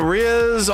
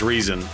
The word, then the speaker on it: Reasonz: Uh what's up Riaz on TTV? Hello Zebra. How's it going? What's going on? What's going on? By the way, I just butchered your name. It's Reason.